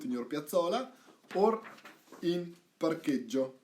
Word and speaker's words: parcheggio: your piazzola or in parcheggio, right? That's the parking lot, parking place. Parcheggio, right? So, hard C because of the H, parche, and double G, soft, because there is no H.